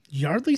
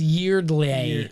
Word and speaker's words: Yeardley: That was Yeardley. No, it's Yard. I've heard people pronounce it at her as Yardley, and she's never corrected it, so I would assume She's fine with it.